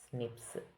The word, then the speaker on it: SNPs: snps single nucleotide polymorphism pronounced as Snips occur in humans this